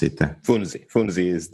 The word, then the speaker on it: Funzi: How do I pronounce it? Funzi.